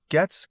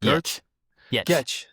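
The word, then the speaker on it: Giertz: The Simone Getz? Yetch. Simone Getz video of... This is with the yeah. Yetch. Getcha. The G is non-existent. Yetz. I mean, it's there, but it's Yetzy.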